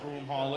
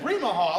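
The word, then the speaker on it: Broomall: that what oh bro i know what broom hall is you just didn't say it right she said brima hall like what do the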